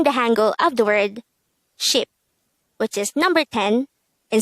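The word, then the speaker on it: 십: The Sino-Korean version of number 10 is ship. And we should take note that numbers 1 to 10 is just composed of one syllable.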